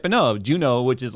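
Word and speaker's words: Juneau: she forgot Juno and she spelled Juno j-u-n-o which is like you would think that's how it's spelled but it's j-u-n-e-a-u oh right I was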